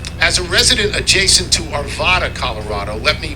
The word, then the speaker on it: Arvada: a resident adjacent to Arvada Colorado let me say the second a is pronounced like it is in hat second let me be